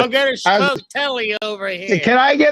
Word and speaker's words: sfogliatelle: Oh yeah, Sfogliatelle. Now, if you look at how it's spelled and try to sound it out that way, Sfogliatelle, you're gonna sound like a somebody.